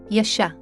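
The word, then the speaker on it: ישע: This is how these two words are pronounced. Sōtēría. JASHA.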